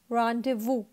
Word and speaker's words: rendezvous: So you have to read this word as rendezvous. This VOUS is vows नहीं है, ये वो, इसको आप वो रीड करेंगे.